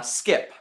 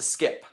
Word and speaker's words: SCP: the way of saying skip so if you want to say SCP it's three syllables or you can shorten it to skip some people spell it